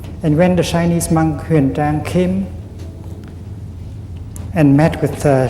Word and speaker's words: Xuanzang: Pronounced Xuanzang.